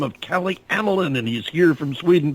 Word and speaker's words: Ameln: A-M is in Michael, E-L-N as in Nancy, pronounced Ameln. It's Calle Ameln, C-A-L-L-E, A-M-E-L-N.